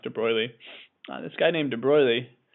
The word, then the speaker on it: de Broglie: uh de BR and it looks like de brogley but I think it's pronounced de Bry this guy named de